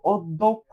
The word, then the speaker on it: অধ্যক্ষ: এই যে দেখো অধ্যক্ষ, অধ্যক্ষ তুমি যদি উচ্চারণ করো তুমি দেখবা যে ধয়ের সাথে একটা ও আছে না ভাই, মনে মনে, অধ্যক্ষ,